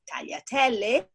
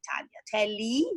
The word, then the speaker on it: tagliatelle: You pronounce grazie as all the terms that in Italian end with E, which is written like E, that you pronounce E and we pronounce E. So as tagliatelle, that you say tagliatelli, or just, others that actually I'm not thinking about.